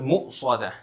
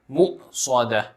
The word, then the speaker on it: مؤصدة: sukoon upon it, and this hamza must be made clear. It should be pronounced clearly. Mu'sada. Don't say it as mu'sada, or else it will sound like a wow.